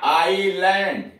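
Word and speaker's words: island: और ये हो गया आईलैंड, आईलैंड यस गायब कर दिया गया।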